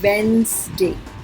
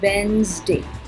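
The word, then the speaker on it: Wednesday: और इसमें D silent है, इसको बोलेंगे वेंसडे वेंसडे।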